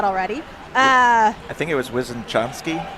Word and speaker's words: Wysoczanski: Hold on, I just asked him how to pronounce his last name, and I forgot already. I think it was Wysoczanski. Wysoczanski, yeah, okay.